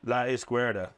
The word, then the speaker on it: La Izquierda: La Izquierda.